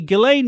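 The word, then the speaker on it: Ghislaine: I did read about ghilane is that how you say her name it yeah we you know we've had a million different pronunciations that's the correct I'm going with your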